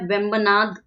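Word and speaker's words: Vembanad: ठीक है, और ये इसका नाम है वेम्बनाद।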